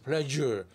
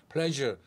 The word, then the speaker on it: pleasure: 느끼고 있었던 것입니다 배에 힘을 주고 목을 때면서 pleasure pleasure 어 이거 좀 해줄래 그럴 때라고 많이 발음해 보시기 바랍니다 우리말에는 없는 발음이 때문에 특히